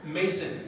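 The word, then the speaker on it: Maison: people can tell me their names i'm like mason but it's spelled um the french house meson but it's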